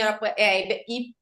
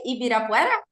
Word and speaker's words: Ibirapuera: Jardim Arapuera. How do you say? Ibirapuera?